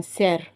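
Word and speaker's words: cerf: ஸோ இதுக்கு வந்து ஃப்ரெஞ்சில் சொல்கிறது வந்து சேர். எஃப் ப்ரொனவுன்ஸ் பண்ண மாட்டாங்க, சேர். ஸோ எஃப் ப்ரொனவுன்ஸ் பண்ணாமல் சேர்னு சொல்லுவாங்க. அதே பெண் மானாக இருந்துச்சுன்னா இன்பிஷ், BICHE, இன்பிஷ்.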